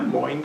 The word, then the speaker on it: Moin: to pronounce my name is like coin with an L Moines coin saiad like psychology